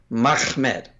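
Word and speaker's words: מחמד: pronunciation earlier, but yeah, it's Mem Ha Mem Dalet. That's Mahmed. Mm-hmm. I don't know any way to say that. Like if you to add another syllable in there, it's just unnecessary and very unlikely.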